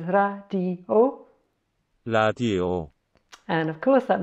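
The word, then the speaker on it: 라디오: So we have got here a R and an A, put the vowels over this side. Then we've got a D and an E. And finally, I need to explain, if a syllable starts with a vowel, it needs to have this silent holder in front of it. So this is a silent holder for the vowel O. So putting it together, it says radio.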